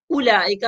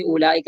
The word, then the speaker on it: أولئك: اولئک میں آپ دیکھ رہے ہوں گے کہ اولئک میں حمزہ کے بعد واو موجود ہے، لکھائی میں موجود ہے، پر اس کو ادا نہیں کریں گے، تلفظ نہیں کریں گے، او نہیں کریں گے.